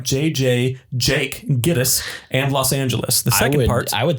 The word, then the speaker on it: Los Angeles: is interesting um although Los Angeles is given its modern pronunciation in the film Angeles prior to Mid 1950s residents said the city's name with hard G angales Los Angeles that's true